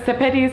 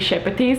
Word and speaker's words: Sepetys: name is Lithuanian, but she pronounces it as if it's English version of the Lithuanian name, because Sepetys actually would be Shepetys, and Shepetys actually means a brush, you know, like a hairbrush.